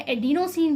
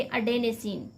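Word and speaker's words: adenosine: लिखा मिल सकता है, एडिनोसिन भी लिखा हो सकता है, ठीक है, लेकिन इसे इंग्लिश में इसका सही प्रोनाउंसिएशन क्या है, तो हम कहेंगे अडेनेसिन।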